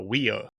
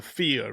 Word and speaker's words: whio: in the past cuz I think I called it a Wo the first time I said it cuz it's spelled whio. That's right. And in our language wh makes a f sound. Yeah. And everybody climbed into me. It's not a weo, it's a fo.